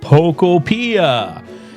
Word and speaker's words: Pokopia: the title, because I don't know how to pronounce it. I'm going to look it up. And according to AI, it is Pokopia.